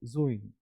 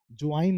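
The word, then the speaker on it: join: में जो तो जो जोइन जोइन I want to जोइन raw coaching जवाइन नहीं जॉइन अब देखिएगा बोइज बोइज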